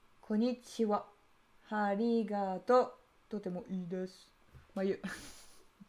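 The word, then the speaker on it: こんにちは: Et après, tu écris soit ha à la fin, soit wa. Ça dépend comment tu le prononces. Le wa, c'est parce que ça se prononce wa, mais ça s'écrit ha.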